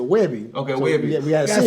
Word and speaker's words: Webby: So how can we get a Weebie? Is that possible? Is it a Weebie? It's a Webby.